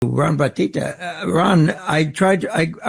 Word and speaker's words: Bottitta: Ron batita Ron I tried I I was calling the wrong number yesterday am I pronouncing your last name correctly yeah it's close enough it's boti Yeah by any name